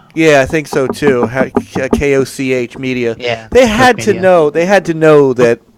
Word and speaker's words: Koch: It's Koch, or they call it Koch Media. Koch. That's how you say it.